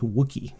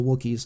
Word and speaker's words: Wookiee: chewie like you know is it rhymes with cookie that's worth somehow yeah